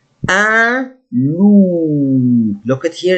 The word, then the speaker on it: loup: Un loup. Look at here, it's double O. Loup. Like the sound for this animal, I say loup all the time. Un loup.